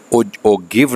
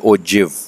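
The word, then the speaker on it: ogive: देखने में लिखने में हम ये देखें तो इसको ओगिव पढ़ना चाहिए था, लेकिन इसकी जो प्रोनाउंसिएशन है वो ओगिव नहीं है बल्कि ओजिव।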